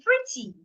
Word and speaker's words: pretty: What if the word is an adjective like in pretty? Pretty has two syllables, free and t. And it's an adjective, so I should also stress the first syllable. Pretty, not pretty.